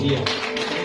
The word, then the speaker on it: the: Kalau kata THE ya diikuti dengan kata yang dimulai dengan huruf vokal, bacanya di abundant ya.